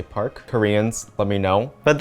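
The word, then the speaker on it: 박: name is park jimin i think it's actually pronounced pok in korea but i might sound stupid saying that so i'm just going to say park koreans let me know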